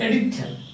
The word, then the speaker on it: editor: Sorry, first syllable, editor.